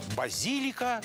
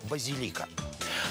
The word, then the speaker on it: базилика: Откуда же взялось это колебание в ударении? То базилика, то базилика.